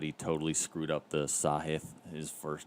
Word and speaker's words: Sahith: I'm pretty sure you pronounced the first name sahith tigala for the first name sahith and then